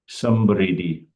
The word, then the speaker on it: समृद्धि: The word prosperity, I think it's samriddhi or something in Hindi, right? Samdri. How do you pronounce it? Manoj? Samriddhi. It's samriddhi. Samriddhi.